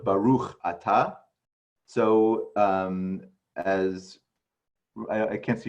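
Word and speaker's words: בָּרוּךְ אַתָּה: So the emphasis is in Ashkenazi is generally on the penultimate syllable, like you say Baruch Ata instead of Baruch Ata.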